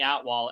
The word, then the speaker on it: Atwal: good one okay and it's so close to your real name the way it sounds phonetically it is it is very close yeah remember I used to always tell my name hey I'm at wall and then I would